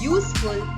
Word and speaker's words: useful: which is a consonant next one useful again begins with letter u which is a vowel letter but the sound is that of a consonant so all these three